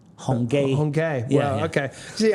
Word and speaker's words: Hong Kee: They always write it K-E-E, but it's actually pronounced gay. Hongay.